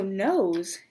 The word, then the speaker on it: nose: So nose is actually going to be, go ahead, guess. N O S E. Nose. Because the silent E made the O say its name.